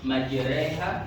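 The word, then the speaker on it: مجراها: Jadi ini kan asalnya nih majraha ro majraha cuman dia ada imalah itu akhirnya dicondongkan dari yang awalnya fathah jadi sepertiga kasrah majraha waha coba kita baca sama-sama bismillahi majriha wa mursal oke sangat panjang.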